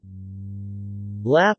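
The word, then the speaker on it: ลาบ: Lap or larb, lab pronounced, L-A circumflex P, is one of the internationally most well-known salads from Thailand.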